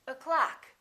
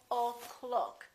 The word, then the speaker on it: o'clock: this uh sound a so we say o'clock we don't say o clock we say o'clock how